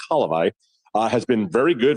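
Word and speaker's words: Hlavaj: Halivi, my Slovakian friends here have been correcting me on that. It's Halivi.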